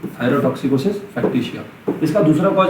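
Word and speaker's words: factitia: toxicosis फैक्टिसिया thyrotoxicosis फैक्टिसिया है ना इसका प्रोनाउंसिएशन कैसे करेंगे फैक्टीशिया एफ ए सी टी आई टी आई ए फैक्टीशिया thyro toxicosis फैक्टिसिया what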